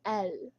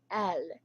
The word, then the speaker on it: elle: So it's spelled like E-L-L-E, but it's pronounced as L. So if you're talking about a girl, it is L.